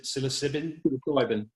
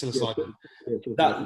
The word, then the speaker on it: psilocybin: modified versions of creating i can never pronounce the word silicib silicibin that's it's psilocybin so they're doing that